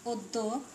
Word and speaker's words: অদ্য: একটি নিয়ম ছিল এরকম: শব্দের আদ্য অয়ের পরে জফলা যুক্ত ব্যঞ্জন বর্ণ থাকলে সেক্ষেত্রে অ এর উচ্চারণ প্রায়শ ওকারের মতো হয়। যেমন আমরা দিতে পারি অদ্য, উচ্চারণ লিখব অদ্য।